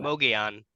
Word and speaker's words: Mogollon: how do you say that word the rim Mogan Mogan so we're gonna talk about the M